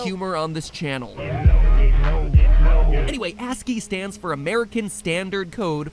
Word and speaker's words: ASCII: turned out to be ASCI i codes for different letters of the alphabet for those of you who don't know ASCI i codes or ascii codes as it's properly pronounced cringe is so real